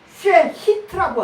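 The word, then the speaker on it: שחת: 이게 위험한 지경이라는 게 히브리어로 쉐히트라고 하는 거예요. 쉐히트라고 이렇게 발음하는 건데 가라앉다라는 소리예요.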